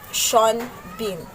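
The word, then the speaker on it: Sean Bean: the word at the spell name sin bin pronounced sean bin next is the foregrounding it is a concept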